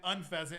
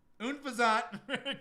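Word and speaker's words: Unfezant: I called this unfazant for my whole life until my buddy recently called it unfaszant. And I was like, "Wait a minute. I'm an idiot. Unfazant.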